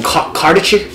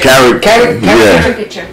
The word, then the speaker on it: caricature: Cardichicker? How do you say it? Caricature.